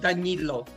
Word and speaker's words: D'Agnillo: Just want to correct if you're okay, my last name is pronounced D'Agnillo.